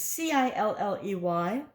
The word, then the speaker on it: Cilley: Is it Silly, Kylie, Killy? It's Cilley.